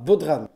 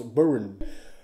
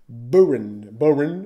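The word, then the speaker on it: bodhrán: Alors, déjà avant de commencer, il est à savoir que ça se prononce pas Bodhran, ça se prononce Boran. Boran, un truc du genre.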